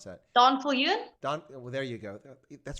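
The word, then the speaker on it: Daan Viljoen: How do you pronounce that? Donfiljoen? Well, there you go. That's very good pronunciation, by the way. Donfiljoen.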